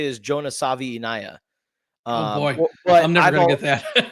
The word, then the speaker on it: Savaiinaea: kudos to you for the the last name pronunciation. Cor the correct way to say is Jonas Savvi. Um boy that I' Yeah, exactly. But I've said Savana.